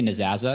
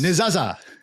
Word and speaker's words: Nezasa: I say Nezasa because I have an obnoxious American accent, but we are a Swiss-German-based company in Zurich, and they all say, I won't do the accent, but they pronounce it slightly differently due to the locale that they're from. So it's however you want to call it.